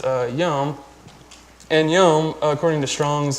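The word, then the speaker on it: יום: actual literal so there's a Hebrew word that's pronounced yum and YUM according to Strong's and new American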